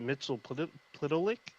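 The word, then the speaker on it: Mxyzptlk: So I thought it was Mittelplick, but he doesn't have. He has no vowels in his name. So in Supergirl, they pronounce it Mittelplick.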